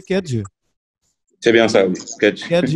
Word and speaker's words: Kedge: aux écoles de commerce et 3 ans à Kedge. J'ai bien prononcé Kedge?